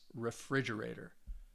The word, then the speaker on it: refrigerator: refrigerator has five syllables which one do you think has the stress refrigerator i hope that you said that second syllable so you you can